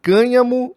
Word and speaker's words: cânhamo: E este site diz o seguinte, que há uma diferença entre cânhamo e maconha. Então eles informam que cânhamo, que é assim que pronuncia, não é maconha.